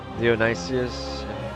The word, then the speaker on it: Dionysius: To achieve this, Dionysius, that's how you pronounce it, must overwhelm the Carthaginians, who currently hold the western part of the island.